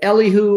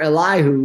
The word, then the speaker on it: Elihu: eliphaz bildad zofar and you can either pronounce it elihu or elihu but a l-i-e-l-i like eli or ellie um it means ale